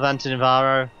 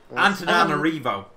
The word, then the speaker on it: Antananarivo: North of Antanivaro? Antananarivo. Never read.